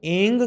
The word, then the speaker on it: ऐं: यह जो एंग शब्द है इसका उच्चारण एंग करना है। ग एम नहीं करना है। यह देवी कालरात्रि महामाया का मंत्र है। इसमें उच्चारण एंग होगा।